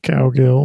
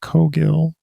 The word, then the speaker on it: Cowgill: ago our guest today is jono cogill not cowgill although i do make a joke coming up in the episode about uh fish and cow emoji that's not how it's pronounced it's pronounced kogill it's a better way to go okay well